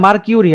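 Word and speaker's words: mercury: এটা কিন্তু obviously মার্কারি হবে, ঠিক আছে? এটা কিন্তু পারদ চাপ, পারদ চাপ, পারদের ইংরেজি কি? মার্কারি, ঠিক আছে? মার্কিউরি আর কি, বা ইংরেজিতে উচ্চারণ করলে মার্কিউরি, বাট আমরা বলি মার্কারি।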